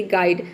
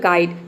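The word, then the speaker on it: guide: करेंगे कब करेंगे देखिए जब किसी वर्ड में यू आई के बाद क्या हो कंसोनेंट प्लस ई हो तो वहां पे य आई को हम आई प्रोनाउंस करेंगे जैसे कि गाइड गाइड में देख सकते हैं कि य आई के बाद क्या आ रहा है कॉन्सोनेंट प्लस ई आ रहा है डी हो गया आपका कॉन्सोनेंट ठीक है और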